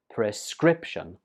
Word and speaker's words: prescription: it's pronounced prescription prescription this word has three syllables and the stress goes on the second syllable prescription for example this medicine